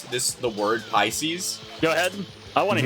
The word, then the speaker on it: Pisces: pronounce this the word Pisces? Go ahead. I want to hear this. A Nirvana song. Uh because I I used to call it like pes or something like that.